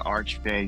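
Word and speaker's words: Archfey: Yeah, I'm doing the arch fay subclass, right? Is that that's how you say it, right? Arch fay. That's correct. Yeah.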